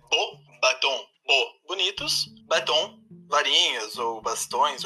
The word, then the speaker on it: Beauxbatons: Então, Emerson, a pronúncia da escola é Beauxbatons.